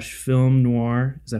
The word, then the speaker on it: noir: But it's set in this interesting like Art Deco / film noir. Is that how you pronounce that?